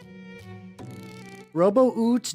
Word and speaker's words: Robuit: Robuit Gilman. There we go. So you call him, let's see, let's see. Let's say, yeah, Robo-Oot Gilman. Yeah, Gilman. Yeah. That's how he's pronounced.